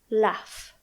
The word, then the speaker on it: laugh: sound IS F because the g h is pronounced as F laugh because the last sound